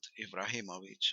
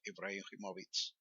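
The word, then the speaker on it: Ibrahimović: i will do that the name is rightly russian or serbian and the age is pronounced like more or less in english and that final c is like a ts in the fallbacks i've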